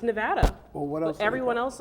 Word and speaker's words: Nevada: the first person I've met out here that pronounced Nevada the right way well how do you supposed to pronounce it it's Nevada well what else everyone else on the East Coast says Nevada no Nevada I agree or maybe because they